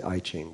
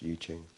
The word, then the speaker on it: I Ching: The I Ching, some people say I Ching, but it's actually pronounced Yi Ching.